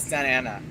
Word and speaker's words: Santa Ana: said, like, you know, there are certain town names that we always never pronounce a certain letter, like Santa Ana. We just call it Santa Ana. Mm-hmm. We press over that T. It just runs into it. Just rumbles on.